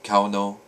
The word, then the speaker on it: Kauno: But this is Kano, also pronounced Kauno in certain circles. It's more traditional. The Viking pronunciation was Kaunaz.